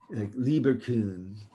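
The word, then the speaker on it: Lieberkühn: crypts of Lieber Kuhn you gotta use the umlaut so then you pronounce that you have two like that Lieber kun so intestinal crypts of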